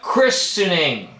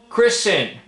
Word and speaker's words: christening: Linguistics go and pronunciation the t is silent so we call it christening christening and we don't pronounce